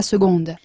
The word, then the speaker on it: seconde: Ma fille est en seconde, En seconde, seconde, voilà, se pronuncia seconde.